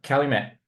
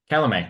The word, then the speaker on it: Calumet: I thought, yeah, Calumet, it's got to be a French connection. And it might be, but the States, they actually pronounce it as Calumet.